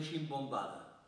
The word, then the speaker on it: simbomba: Bé, i tanquen el lata amb una ximbombada. Curiosament, si el diccionari d'en Alcover Moll cerca ximbombada, no hi apareix. I ximbomba remeta simbomba. I diu, la simbomba, pronunciat ximbomba, és un instrument molt